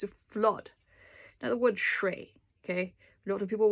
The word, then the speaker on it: 水: the middle and say shui. Just keep it really tight. Shui. Like shui. Shui. It's a tight syllable.